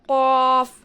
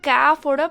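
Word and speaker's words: ق: Smile பண்ணி ஓதணுன்னா அது கேஃபோட ப்ரொனவுன்சியேஷனாக மாறும். இது வந்து நம்ம சர்க்கலாக வச்சு ஓதணும். மவுத்தை வந்து சர்க்கலாக வச்சு ஓதணும். காஃப் காஃப் காஃப்.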